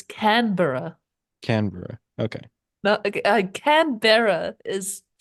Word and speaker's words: Canberra: It's Canberra.